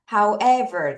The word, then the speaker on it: however: however. 자, 이제부터 발음을 하실 때는 여러분 여기 강세가 있잖아요. however. 여기다가 강세를 두고 발음합니다. 하지만, 그러나 이런 말이고요.